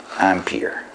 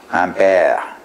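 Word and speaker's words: ampère: "Je sais, mes amis de la France, et du Quebec, que c'est un nom que nous pronouncons Ampere" but here, in America, we call that ampere.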